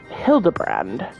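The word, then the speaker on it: Hildibrand: That's why it's pronounced Hildabbrand.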